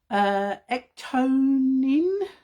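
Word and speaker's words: ectoin: So we have got ectonin, is how you pronounce it, a multifunctional ingredient and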